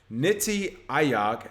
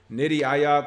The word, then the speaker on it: Niti Aayog: It looks like a policy think tank of the Indian government, Niti Aayog, Nitiaayog, so that's the way I'm pronouncing it, has released its national blockchain policy